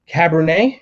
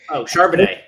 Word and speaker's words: Charbonnet: So I'm looking at Zach Cabernet. Am I pronouncing that right? I think so. So some fan favorites from the University of Michigan. He transferred in to UCLA, but Charbonnet.